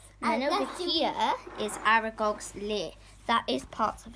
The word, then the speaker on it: Aragog: And then over here is Aragog's lair. That is part of it. So Aragog's... Aragog, Jamie. Aragog. Can you stop saying it wrong, please?